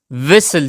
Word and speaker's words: whistle: इसमें टी जो है ये साइलेंट है, तो इसकी प्रोनाउंसिएशन कुछ इस तरह होगी कि विसल, इसकी प्रोनाउंसिएशन विसल होगी, टी इसमें साइलेंट है, तो विसल यानी सीटी।